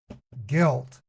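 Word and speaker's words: Gylt: Eastern I'm gonna play a game called guilt it looks like a really good game pronounced G ylt so for my YouTube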